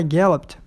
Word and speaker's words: galloped: Então, vai ficar galloped. E o open? A sílaba forte dele é a primeira, né?